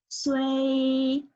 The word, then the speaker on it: 水: Next is SUI fourth tone. Since it's fourth tone, you need to count until fourth tone, okay? 水, 水, 水, 水.